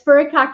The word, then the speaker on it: furikake: And it's furikake.